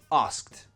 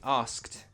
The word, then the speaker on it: asked: Asked. Say it with me. Asked. Again, we pronounce that ED like a T.